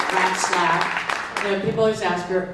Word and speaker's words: Ratzlaff: That's her real name, Ratzlaff. People always ask her how to pronounce her name, and I say mice giggle and rats laugh.